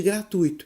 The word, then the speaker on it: gratuito: palavra gratuitamente derivada de gratuito qual é a pronúncia recomendada pela norma padrão para a palavra gratuito o a sílaba tônica do sul ou no ih então até mesmo durante a